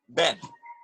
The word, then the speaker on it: been: Ben. Ben. Some people say Ben, Bean, but most Native American speakers say Ben, like in Benjamin. Yeah, that's why I got Ben.